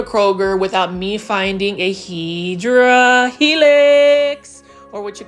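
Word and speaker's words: Hedera helix: can't go to Kroger without me finding a hedra helix or what you call a hyera helix that's a correct way to say it and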